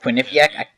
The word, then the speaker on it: Quinnipiac: I never know how to pronounce that. Ryan, you might. Quinnipiac? Was it Quinnipiac?